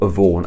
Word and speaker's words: Yvonne: So if you're gonna have the name Yvonne, I'm saying that how it should be pronounced, Yvonne.